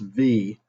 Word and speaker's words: Viy: to talk about v it's pronounced v that's the name of the movie not the v or the viz or the vi and the it's the v it's v just v and it is a